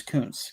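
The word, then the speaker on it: Koonce: okay okay yeah okay I'm pretty sure that's how you pronounce it though it's Coons because if it were that'd be bad so with a z anyways um yeah and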